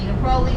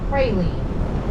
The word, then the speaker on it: praline: Other parts of the country call it a praline. Here it's a praline because we mispronounce everything.